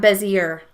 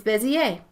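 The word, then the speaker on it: Bézier: using the Bezier tool it's French that's why it has an EI at the sound at the end and it's not Bezier it's busy a it's also called the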